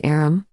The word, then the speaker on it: arm: an arm your honor he pronounced it arum an arm Yus who